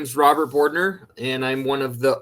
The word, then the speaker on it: Bordner: up next we have Robert bordner correct me if I pronounce that wrong Robert with slidewaters that's correct yeah hello good afternoon everyone my name is Robert boardner and I'm one of